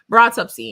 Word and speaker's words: Broughtupsy: is how the word is pronounced to Yeah. me, and that is how the Broughtupsy. word is Broughtupsy.